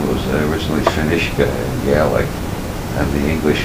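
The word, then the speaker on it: Fionnuisce: I know, and what was the pronunciation? Finishka, clear waters.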